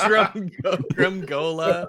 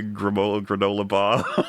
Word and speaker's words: Gramuglia: This is Gramuglia.